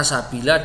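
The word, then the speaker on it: سبيلا: Yaquluna ya laitana ata'na Allah wa ata'na ar-rasul wa qalu rabbana inna ata'na sadatana wa kubara'ana fa'adalluna sabila.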